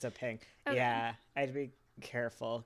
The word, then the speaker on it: PNG: I just read the introduction to pings. Ping is spelled PNG or Portable Networks Graphic and always pronounced ping in English, not pinge or PNG or any other multisyllabic disaster.